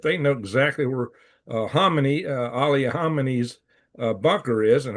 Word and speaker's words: Khamenei: They may try to, if they know exactly where Ali Khamenei's bunker is, and everybody puts a K in that and says Khamenei. No, it's Khamenei. I'm getting that from Iranian sources, at least.